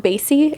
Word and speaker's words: Count Bassy: Does it count Bassy? Is that how you say it? Yeah. Yes. Thank goodness I said that right. I was like, because Bassy sounds weird. It has to be Bassy. Yeah.